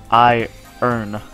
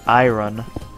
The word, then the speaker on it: iron: crap oh iron iron why is iron spelled i-r-o-n but it's pronounced i earn it's weird you're like ooh iron but if you say i run just that's you're dumb